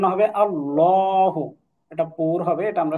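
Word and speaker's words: اللهُ: আল লাম খাড়া জবর লা হা পেশু এটার উচ্চারণ হবে আল্লাহু এটা পুর হবে এটা আমরা সামনে শিখবো ইনশাল্লাহ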